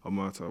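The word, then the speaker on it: Omertà: I got it wrong when I pronounced it. What's it? Is it Omerta. Omerta.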